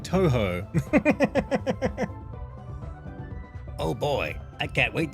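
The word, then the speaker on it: Touhou: It's pronounced like Toho.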